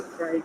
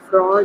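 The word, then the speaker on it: Freud: और इसका पूरा नाम जो है, फ्रॉड नहीं इसको कहना है, फ्रॉइड नाम है, सिग्मंड फ्रॉइड इसका पूरा नाम है। प्रोनाउंस आपने इसको इस तरह से करना है।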